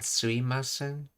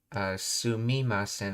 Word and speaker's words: すいません: Yeah, it's based on sumimasen, okay. It's a casual contraction pronunciation of the standard form created by shifting the vowel sound of the second mortar mi to e, effectively dropping the consonant.